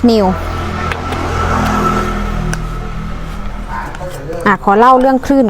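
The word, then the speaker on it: ν: e = s New อัน นี้ อ่าน ว่า New นะ คะ ตัว งอ แบบ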